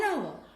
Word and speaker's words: hour: An hour, an honest man. Here, the words are beginning with a consonant letter H. But H is silent and the words are beginning with a vowel sound.